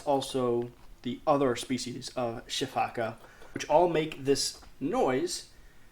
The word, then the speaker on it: sifaka: to call it the spaka many of times solely because I'm reading it off of a piece of paper but yes technically speaking it should be pronounced the shiak which actually leads into